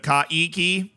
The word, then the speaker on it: Keiki: Streamer pronounces cake instead of kaiki.